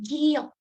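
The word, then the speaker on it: 기역: Kalau misalnya si huruf giok ini ada di awal, dia bunyinya G. Tapi kalau dia ada di akhir, yang mana nanti aku bakal jelasin lebih lanjut, kalau ada di akhir, dia bunyinya K. Gitu. Jadi ada dua pelafalannya, G dan K.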